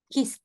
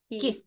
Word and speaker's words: kissed: Una S, ¿cierto? Kiss. Suena como T. Es una kiss. E, porque está aquí, pues aquí está, ¿ves? Aquí está la letra. ¿Ya? Ahí está. Entonces suena como una T.